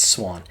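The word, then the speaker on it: Siuan: mispronouncing her name it's suin or when it's swan it's pronounced swan whether you like it or not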